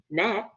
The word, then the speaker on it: gnat: So when it comes to spelling words that have silent letters in them, like gnat, which is G-A-G-N-A-T, G-N-A-T, we don't hear the G, so we might just say N-A-T.